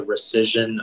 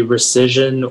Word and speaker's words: rescission: the sense is the plaintiff agreed to the rescission of the agreement can you repeat the definition